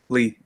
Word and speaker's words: Leigh: thank you now is is that the correct pronunciation of your name lee yeah mr lee okay because you know you